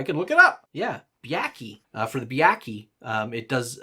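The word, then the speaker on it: Byakhee: For instance, for the Byaki, is that how you pronounce it? I can look it up. Yeah, Byaki.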